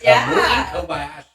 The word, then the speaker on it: Kamui Kobayashi: I've got the pronunciation right here. Kamui Kobayashi. It's Kamui Kobayashi.